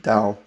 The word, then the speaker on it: Dao: once you see it with a key you pronounce it Dao and then you see the Taiji symbol which